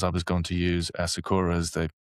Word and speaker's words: Sakura: Is that how it's pronounced? Sakura.